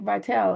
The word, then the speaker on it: Vitale: I think it's Vitali because it's Italian, but Italian. there was a sports guy, Dick Vitale, and his name was spelled the same way, but that's how we say it over here. It would be Vital, but I think Italian would be a Vitali.